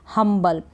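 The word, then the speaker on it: humble: पढ़ने की कोशिश करें, जैसे कि BLE बल, हम्बल, हम बल, इस तरीके से।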